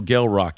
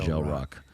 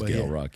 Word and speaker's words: Gel Roc: is no K and it is pronounced with a hard G like graffiti Gale Rock not gel Rock so um yeah some